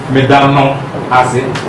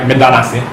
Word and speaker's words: medano ase: And you find this also in the grammar, which is referenced here, Medano Ase. Now, you wouldn't say it like that, you'll say it like Medanase.